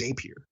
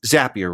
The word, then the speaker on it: Zapier: And it's Zapier, right? Happier. It's Zapier. It's pronounced like rapier, from what I understand, like the sword.